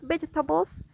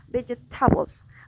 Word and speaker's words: vegetables: For example, in the word vegetables, the stress is on the first syllable, but the student says vegetables, like the stress is in the third syllable, like in Spanish.